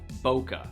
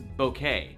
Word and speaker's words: bokeh: So the technical name is called bokeh or bokeh. It doesn't really matter how you say it.